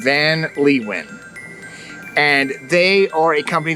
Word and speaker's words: Van Leeuwen: I believe that is the pronunciation, Van Leeuwen.